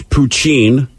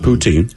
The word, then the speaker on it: poutine: By the way, it's pronounced... Purchased a house. Okay. It's poutine, not poutine.